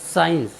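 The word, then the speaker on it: science: उच्चारण का नियम है यदि किसी वर्ड के शुरू में एस और सी एक साथ आए तो हम सी का उच्चारण नहीं करते जैसे एस सी आई ई एन सी ई साइंस साइंस होता है विज्ञान साथियों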